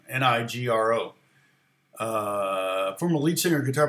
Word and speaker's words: Nigro: uh producer yeah daniel it's negro i guess is how you say his name nigro uh former lead singer